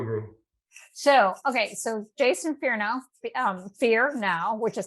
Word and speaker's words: Fearnow: totally agree totally agree so okay so jason fear now um fear now which is kind of interesting